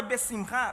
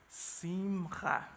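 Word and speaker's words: בשמחה: Mas toda transliteração em hebraico, quando você tem essas letras CH, a pronúncia é com som de 2 R's. E é um som gutural.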